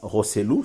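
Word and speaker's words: Joselu: il s'appelle euh joséou voilà rosselou si on prononce bien en espagnol mais roselou n'était pas titulaire donc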